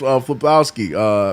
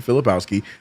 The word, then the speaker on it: Filipowski: That's Flipkowski. Kyle Flipkowski. However you say his name. Filipowski. There it is.